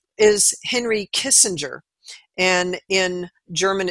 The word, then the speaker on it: Kissinger: was a German man his name is Henry Kissinger and in German it's pronounced kissing uh and that came from a town in Germany